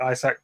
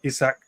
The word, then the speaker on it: Isak: I think you're right Isaac um isak they say his name played really well cold